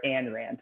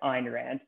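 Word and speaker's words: Ayn Rand: school i i read the the fountainhead the ein rand book or as others referred to her and rant but properly pronounced ein rand um and i kind of fell in love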